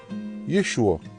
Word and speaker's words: Yeshua: Donc le nom de Yehoshua en araméen était écrit et prononcé Yeshua.